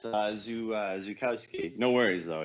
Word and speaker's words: Zukowski: Is it Zukowski? No, close. It's Zukowski.